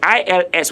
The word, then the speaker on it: ils: However, for now, in this lesson and in this episode, I want to say the ILS, which is the il, the S there is not pronounced.